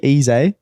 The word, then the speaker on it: Eze: Ebereki Eze, that's how you say his name. It's Eze, hey? Eze, yeah.